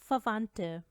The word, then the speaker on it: Verwandte: अब वे का साउंड आप भूल जाएं क्योंकि जर्मन लैंग्वेज में फाओ को हम फ की तरह बोलते हैं।